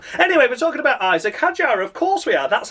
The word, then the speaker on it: Hadjar: Anyway, we're talking about Isaac Hadjar.